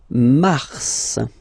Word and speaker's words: mars: Okay, then mars. Okay, so in a way it's an exception because normally final S is not pronounced in French.